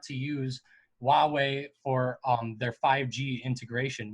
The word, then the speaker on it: Huawei: and Apple and just keep in mind guys it's called Huawei okay it's kind of a weird pronunciation yeah Huawei and Apple they're